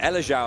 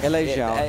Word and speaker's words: Elexiao: Elexiao. It depends how you want to go for it. Because I want to go for the French. I want to respect that. Elexiao.